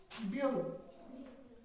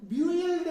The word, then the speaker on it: build: अगर हम ब्यूइल्ड पढ़ते हैं, ब्यूइल्ड पढ़ेंगे ना इसको, ब्यूइल्ड, लेकिन ब्यूइल्ड नहीं है, बिल्ड है।